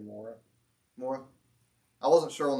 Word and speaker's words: Moreh: How do you say that right? Is there a... Huh? Moreh or... Okay. I wasn't quite sure on that, so I wanted to ask. I would say Moreh.